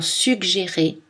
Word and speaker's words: suggérer: Pour les mots qui contiennent deux G, on prononce deux consonnes, comme dans suggérer et les mots dérivés.